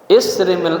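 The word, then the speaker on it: اِصْرِمْ: sallallahu alaihi wasallam bersabda, isrimil ahmaq bi kasril hamzah war ra. Ya, isrim bacanya.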